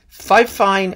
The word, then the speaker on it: Fifine: And you get his defense of inconstancy, Fifine at the fair. Now this could be pronounced Fifine, or Fifine, or Fifine. It's F-I-F-I-N-E.